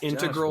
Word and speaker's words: integral: why i think it's integral that i stay here as long as i can because once i leave i want you to know that it's integral not integral that's not how you say it yeah don't say it